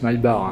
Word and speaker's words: Maybach: malbar ici marqué maybach là oui ça se prononce maybach 1 ch en allemand ça fait d'heureux et